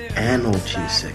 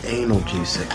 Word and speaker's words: analgesic: That's actually pronounced analgesic, not analgesic.